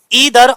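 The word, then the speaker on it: either: ना केवल बल्कि फिर दूसरा है हमारा ईदर और इसे हम आइदर और भी पढ़ सकते हैं। जैसा तुम्हारा मन करे वैसा पढ़ो।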